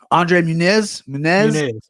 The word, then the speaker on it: Muniz: Andre Muniz.